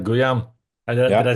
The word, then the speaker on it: Guillaume: All right, Guillaume, did Yeah, I say it right?